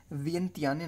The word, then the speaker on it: Vientiane: इसकी जो कैपिटल है बहुत ही वियर्ड है, आप इसकी स्पेलिंग याद कर लें। वियंतियाने नाम है इसका, वियंतियाने है, लेकिन आपको शायद याद ना हो वियंतियाने।